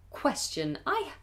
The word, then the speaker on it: question: Qu, like a Q and a W. Qu, qu, question.